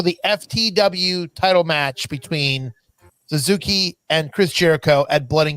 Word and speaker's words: Suzuki: yes he he did do this and uh zuka came out and with a am I saying it wrong nor nor Shak wait how do you say his name are you talking about Suzuki I'm sorry mean you mean Suzuki right Suzuki